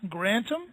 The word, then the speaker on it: Grantham: is uh her spe her name is grantom is it pronounced correct that's right that's Co you not